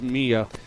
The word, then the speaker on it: Mia: I think it's Mia because my niece is Maya and it's spelled M-Y-A. Ah, good call. So we'll go with Mia.